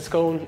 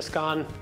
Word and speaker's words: scone: So, is it a scone? Is it a scone? Completely up to you. It's whatever you pronounce it.